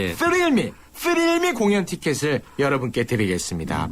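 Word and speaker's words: Thrill Me: 여기 이제 발음이 이게 쉽지가 않습니다. 저는 이제 토익을 준비했기 때문에 할 수 있는 발음인데 뻔데기 발음이 들어가야 됩니다. 예. 뻔데기 들어가 줘야지요. 쓰릴미 쓰릴미 공연 티켓을 여러분께 드리겠습니다.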